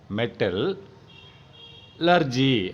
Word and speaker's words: metallurgy: இது எப்படி ப்ரொனவுன்ஸ் பண்ணுவீங்க? மெட்டல் லர்ஜி. அப்போ மெட்டலார்ஜி ரைட்டா அப்படின்னு ப்ரொனவுன்ஸ் பண்ணணும்.